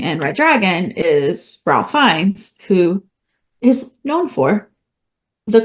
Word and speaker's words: Fiennes: It's Rafe Fiennes because Yeah. it rhymes with safe signs.